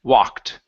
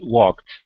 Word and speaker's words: walked: of saying uh walked okay Ed ending walked yeah because of the be I got confused walked uhhuh so it's walked back walked back good job instead he walked